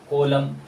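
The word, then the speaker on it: column: है एम एन तो जब भी एम एन एक साथ आता है तो उस जगह एन को पढ़ना नहीं पड़ता है उसको प्रोनाउंस नहीं करना पड़ता है जैसे एम के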